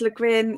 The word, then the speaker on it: Le Guin: Quick search says Le Guin uses a hard G for get.